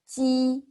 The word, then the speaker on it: ji: First, when you pronounce ji, you need to block the air first. Use your tongue and touch here and block the air and then blow the air.